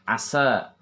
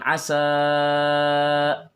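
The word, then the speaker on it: عسى: Kemudian kemarin ada beberapa kata yang terlalu panjang, lebih dari 2 harokat, yaitu kalimat asa. Membacanya bukan asa, tetapi membacanya 2 harokat. Asa rabbuhu, asa rabbuhu. Jadi diayunkan. Asa rabbuhu in talaqakunna an yubdilahu azwaja. Ya, kemudian itu asa harus 2 harokat.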